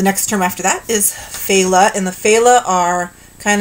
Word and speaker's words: Fela: other world the next term after that is Fela and the Fela are kind of these reanimated